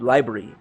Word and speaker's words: LBRY: getting LBC credits ok it's spelled lb ry library but no it's what's the word for but when you talk it sounds like library library data yo yeah